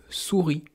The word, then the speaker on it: souris: On a aussi le mot souris. Une souris, ça prend un S muet à la fin du mot.